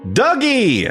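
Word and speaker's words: Dugee: what what's your name douge douge e yeah like Doug Spacey or douge I've never had to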